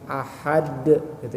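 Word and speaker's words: أحد: Jadi kalau ada qalqalah, apalagi qalqalah kubro yang di akhir atau di ujung-ujung kalimat, maka bapak-bapak nggak usah ragu untuk memantulkannya. Ahad gitu ya.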